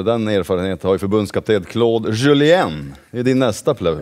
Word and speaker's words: Claude Julien: Den erfarenheten har ju förbundskapten Claude Julien. Det är din nästa plus. Ja, verkligen. Bra uttal där förresten. Franskandensiskt uttalet där.